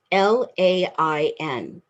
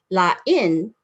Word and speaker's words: lain: They're spelled the same, L-A-I-N. The accent is different, so you pronounce them differently. Lain means different.